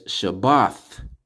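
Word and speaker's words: שבת: have to change it that's not how you say Sabbath in the in the Paleo in the original tongue in our original tongue so let's get it right unlearn and relearn all right so as you can see it says Shabbat sha ba Tha which the a is just at the end because you're putting ba and thought together means Sabbath all right so when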